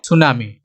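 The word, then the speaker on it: tsunami: Spelling में क्या है, सुनामी, हमने क्या प्रोनाउंसिएशन किया, सुनामी, S से शुरू हो रहा है लेकिन यहाँ पे T लिखा हुआ है, स्पेलिंग है।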